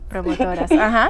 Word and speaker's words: promotoras: And I know you were once, how do I pronounce it? Promotoras? Promotoras, exactly.